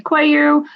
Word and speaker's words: Coelho: of our listeners so this is cuello or Quello however wherever you are however you want to pronounce it uh owner of Tia Maria's European Cafe in New Bedford correct yes yeah um a lot of a lot of Portuguese people will call me koyu um then you know